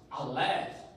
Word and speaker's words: Aleph: The first letter of the Hebrew alphabet is called Aleph. Pronounced Aleph. Aleph has not sound of its own, but usually has a vowel associated with it, silent.